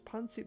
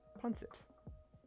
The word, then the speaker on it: pancit: Okay, but it is an S sound. I think. As far as I can tell, pancit.